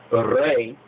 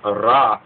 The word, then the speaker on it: Ra: So there's a understanding that needs to be understood that sometimes you'll see Re, or the so-called Egyptian sun god that they'll mispronounce as Ra with a R-A.